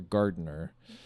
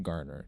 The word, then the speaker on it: Garner: Or Gardner. How do you pronounce that? Garner. Julia Garner.